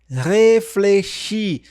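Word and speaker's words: réfléchis: A dificuldade tá aqui, ó, nesses dois biquinhos. Reflechi.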